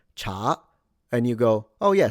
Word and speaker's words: 茶: And this means tea, by the way. 我喝茶, cha. And so if you say cha, it's a different word.